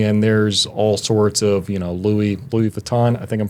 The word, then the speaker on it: Louis Vuitton: affluent and everything, and there's all sorts of, Louis Vuitton. I think I'm pronouncing that correctly.